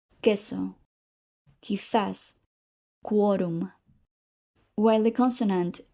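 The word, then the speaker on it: quórum: Notice how quo is pronounced differently. If we said co, we would be using the combination of C plus O. Now, listen to the examples with Q. Queso, quizás, quorum.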